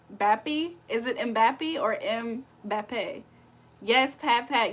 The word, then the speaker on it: Mbappé: It's pronounced like Mbappe.